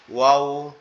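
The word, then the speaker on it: واو: আর ওয়াওটা উচ্চারণের সময় আমাদের দুই ঠোঁট গোলাকৃতি ধারণ করবে, করে আওয়াজ হবে এরকম ওয়াও, ওয়াও, ওয়াও, এরকম ভাবে।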